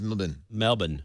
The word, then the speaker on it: Melbourne: When I asked him, he said it Canberra Grammar because it's Canberra. You don't say the syllables. Like Melbourne is Melbourne. Melbourne.